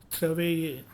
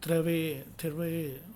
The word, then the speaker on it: travailler: Final er always pronounced a, like English word day. Okay. Santé. Okay, it is chanter, danser, parler, travailler. Okay, travailler.